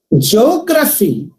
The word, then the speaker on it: geography: See, geography, geo, one syllable. Gra, second syllable. Phi, third syllable. Geography, phi, last one. Gra, second one. Geo, the third one.